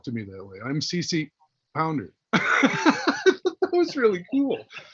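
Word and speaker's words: CCH Pounder: here's here's Jada and CC pounder is remember the H is silent um and she actually introduced herself to me that way I'm CC pounder that was really cool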